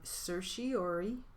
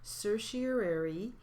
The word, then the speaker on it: certiorari: of the jury charge we have certiori certiorary i'm sorry i'm not i'm not saying that very well certiorari that's spelled c e